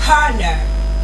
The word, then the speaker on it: honor: So, you don't pronounce the H in those words.